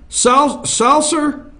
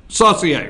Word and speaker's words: Saucier: How would you pronounce it? Saucier, right?